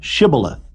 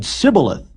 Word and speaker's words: shibboleth: said they unto him say now shibboleth and he said sybileth for he could not frame to pronounce it right then they took him